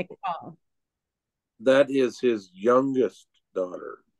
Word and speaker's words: Michal: It looks like it's pronounced Michael, No. M-I-C-H-A-L, but it's no. McCall.